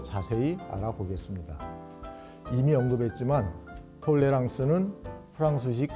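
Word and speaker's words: tolérance: 이미 언급했지만 톨레랑스는 프랑스식 발음입니다.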